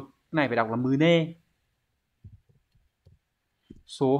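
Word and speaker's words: 胸: Cái này phải đọc là mune.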